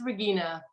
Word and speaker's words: Regina: And it is Regina, please. Regina? Yes, in the German pronunciation, or as German as people can handle.